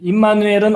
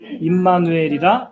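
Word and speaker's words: עמנואל: 임마누엘은 어느 나라 말일까요? 히브리 말이에요. 근데 헬라어로는 엠마누엘이라고 발음하죠.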